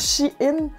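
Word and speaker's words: Shein: site chine et oui je suis pas mal sûr que ça se prononce chine parce qu'avant ça s'appelait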